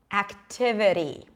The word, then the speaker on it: activity: pronounce it like this better activity activity it's not activity activity now you're thinking to yourself okay she's saying something like a D but notice I'm not saying activity right it's not a strong